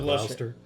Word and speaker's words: Gloucester: Yeah, because I think isn't there like it looks like it's spelled Gloucester, but they just call it Gloucester.